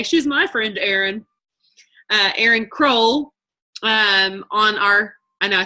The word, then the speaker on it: Crowell: my friends that live up the street whose last name is Howell, their name is not Hole. So that's where I got the fact that her name is, I still say I want to say it wrong. Sometimes I want to say it's Crowell. No, it's Crowell.